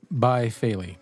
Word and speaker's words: Baifeili: I say Bifaley. Phil says Bifaley. Kevin says Bayfaley. But I'll go ahead and spell it for you. It's 3 separate words. Baifeili. Bifaley. Bayfaley. Bayfeli. However you want to say it, we call it Bifaley.